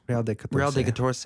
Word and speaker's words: Real de Catorce: Real del Catorce? Real de Catorce.